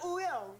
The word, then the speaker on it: Wooyoung: I'm Wooyoung.